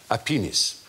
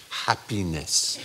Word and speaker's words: happiness: first lady of France happenis which the general leaned over and whispered discreetly uh no Mya in English it is pronounced happiness and there's more Qi